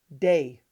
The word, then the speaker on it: Dai: people know him as die vernon or if you're a magician you probably know him as the professor if you lived on the east coast you might actually pronounce his name day on the west coast